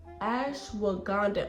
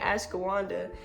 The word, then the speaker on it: Ashwagandha: Ashwagandha. Okay, there we go. There we go. I be saying Ashawanda is Ashwagandha. Okay, there we go. Just be be careful. Okay, it says restore and unwind. Ashwagandha is almost like when